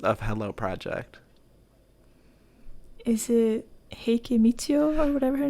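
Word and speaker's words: 平家みちよ: Is it Heike Michio or whatever her name is?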